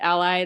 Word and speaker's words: a11y: clear that out so the a11y or sometimes pronounces ally that stands for accessibility uh the 11 letters between the a and the y and so